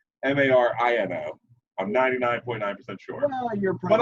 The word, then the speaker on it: Marino: Another football great, Dan Moreno, as you have it, or Marino. It's actually pronounced Marino.